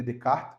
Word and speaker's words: Descartes: muito importante é ren René Descartes ou René decart como alguns qu né aí a gente tem que botar a pronúncia do francês ã e uma das